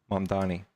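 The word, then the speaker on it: Mamdani: Well, that guy uh I can't pronounce his name. Mavi. Mandani.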